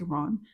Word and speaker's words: Iran: raps Pakistan Iraq Iran but he says Iran like Pakistan Iran like he rhymes those two and it has messed with my pronunciation of the country of Iran ever since.